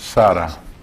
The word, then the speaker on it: Sa-Ra: It's known as sun birth, pronounced Sarah. Sa-Ra, the birth of Ra.